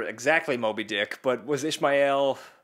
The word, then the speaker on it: Ishmael: Moby Dick but was Ishmael like Ishmael Ishmael Ishmael it's Ishmael Ishmael don't you dare say Ishmael it might even it's probably correct but yeah cuz it's three syllables Ishmael but it's so pretentious